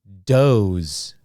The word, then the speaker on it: doze: nine dad number ten doze okay for number 10 we hear do o and then z sounds doze again here you do not pronounce the e the e is silent the e is silent